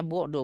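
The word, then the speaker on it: بعد: bentuk masdar Isim Iya dibacanya Budu bukan ba'da kalau ba'da setelah kalau Budu itu jauh Nah jadi untuk membaca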